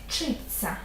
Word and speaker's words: вчиться: вчиться вмивається одягається тощо таке буквосполучення завжди буде вимовлятися як подовж жений пом'якшений звук ц читься Запам'ятай це і не